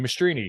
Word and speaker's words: Mastrine: Good job pronouncing my name. Well, I listened to everybody else say it, and I'm like, I kept looking at it like, that's Mastrine? Mastrine? Yeah, it's Italian, and they anglicized it, and tale as old as time.